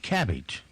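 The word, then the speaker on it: Kabbage: times your payroll then there's another one called cabbage spelled with a k ka BB a GE and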